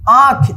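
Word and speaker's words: आँख: देखिए यहाँ पे आंख, इसको आंख पढ़ेंगे। चंद्रबिंदु का जो उच्चारण है ना मुंह और नाक की मदद से जो है ना इसका उच्चारण होता है आंख, आंख।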